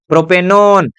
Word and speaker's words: प्रोपेनोन: कुछ कर देते हैं, प्रोपेनोन, देखो प्रोपेनोन लास्ट में लिखना कर क्या आएगा, उच्चारण ओन, प्रोपेनोन, है ना।